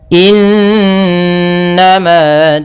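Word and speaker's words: إنما: Ya, semoga innama tu'aduna lawaqi'. Pada bacaan innama, di sini ada nun berharakat tasydid diwarnai dengan warna hijau. Ini bacaan gunnah. Cara membacanya, suara n-nya ditahan 2 harakat.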